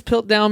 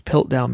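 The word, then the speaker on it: Piltdown: scientific history holy dawson dawson's pill down man was sorry i was mispronouncing his pilt down man was conclusively established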